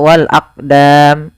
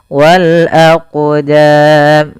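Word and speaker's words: وَالْأَقْدَامِ: ee apa tidak mantur contoh Wal aqdam itu salah yang kedua menambahkan Hamzah Wal aqdam harusnya tidak harusnya dia mengalir suara qalqalahnya Wal aqdam ya mantulnya Eh mantulnya berjalan Wal aqdam a Aam Kemudian pada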